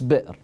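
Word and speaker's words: بئر: well better is what in Arabic well any well it's called beer or the you know common way of pronouncing is beer people say beer but in Arabic it's bitter now not the English beer there's a different meaning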